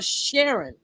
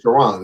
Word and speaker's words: Shiron: is cool he's 100% thought it was pronounced sh uh Sharon yes no it's shiron it's shiron it's shiron let